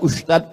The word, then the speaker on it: ustadz: Enggak salah secara bahasa Indonesia, tapi secara bahasa Arab. Bahasa Arab itu ada huruf za, ada huruf ja, ada huruf d, ada huruf dza. Dza. Letakkan ujung lidah di atas gigi. Atas gigi atas.